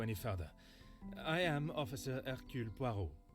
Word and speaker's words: Hercule Poirot: I am Officer Hercule Poirot. And that's how you pronounce it in the actual Belgian accent.